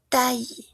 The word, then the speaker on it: taille: Normalmente cuando tenemos L se pronuncia como una paremple fille. Oui, taille.